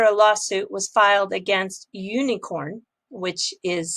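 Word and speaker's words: Unikrn: icos today after a lawsuit was filed against unicorn which is spelled u-n-i-k-r-n uh they had this suit that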